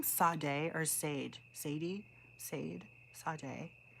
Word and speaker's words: Sade: It's pronounced Sade.